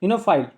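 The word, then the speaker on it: oenophile: अब कन्वाइजरर of wines, उसको आता है मदिरा प्रेमी, जो बहुत ज़्यादा शराब को प्रेम करता है, उसको आता है इनोफाइल, वो साइलेंट रहता है, इनोफाइल।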